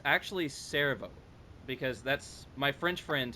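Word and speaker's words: Cerveau: It's actually Servo, because that's my French friend helped me with some of these pronunciations, and so why is the video The not following playing?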